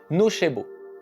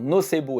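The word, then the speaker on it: nocebo: latin je nuirai et qu'on devrait d'ailleurs prononcer nochbo mais on n'est pas là pour faire du latin. La prononciation nobo étant scientifiquement admise, elle ira très bien.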